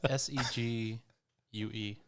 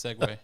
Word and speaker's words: segue: i can spell it what's s-e-g-u-e what no it's not that's segu no it's segway is that a brand